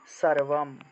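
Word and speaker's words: সর্বম্: অনুসার মনে করেন যে কোন একটা শব্দের শেষে যদি থাকে মনে করেন যে সর্বম সর্ব আর অনুস্বার আছে তাহলে উচ্চারণটা হবে সর্বম ম রূপে উচ্চারণ হবে ম অর্থাৎ অনুস্বার কোন একটা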